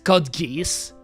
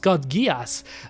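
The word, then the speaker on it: Code Geass: Kodgas and then he told me isn't it Kod geese and then I told him no it's gias trust me for sure it is pronounced kudgas and then he couldn't believe me he said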